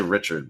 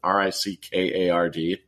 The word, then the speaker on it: Rickard: His wingers are Drew O'Connor and Rickard Rakell, as I think I say it. I always want to say Richard, but it's Rickard, and then Rakell, R-A-K-K-E-L.